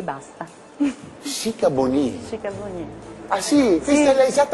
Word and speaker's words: Sikabonyi: Chicaboni? Chicaboni. Ah sì? Questa sì. È l'esatta pronuncia del suo nome? Sì, si sa. Oh, mi scusi, tanto. Abbiamo sempre detto Chicaboni. Abbiamo sempre sbagliato.